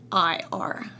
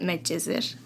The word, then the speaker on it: Medcezir: Medcezir. We call it Medcezir.